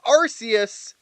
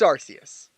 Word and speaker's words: Arceus: And I will not change its pronunciation, it is Arceus! The people wanting to change it just because of a movie that retconned true canon can bite me. It's Arceus.